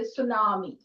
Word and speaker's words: tsunami: Tsunami say tsunami but we say tsunami because t is silent it's like tsunami.